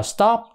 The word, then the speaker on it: stop: của anh đó top nhưng mà stop thì nó lại là t thôi nha tờ stop stop đó Stop chứ không có thổi là stop stop không có nha Còn cái chữ Butter